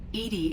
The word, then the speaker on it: EDI: is a jar why are you named Edy Edie is the phonetic pronunciation of e di that is an acronym